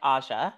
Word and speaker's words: Aja: It's a soft J, so like Aja. Like, I think English people tend to go for the hard J, but and it was